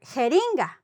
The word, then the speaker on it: jeringa: start with J, and there are words that start with G, and they sound like H, like, for example, Germán and for jeringa, no?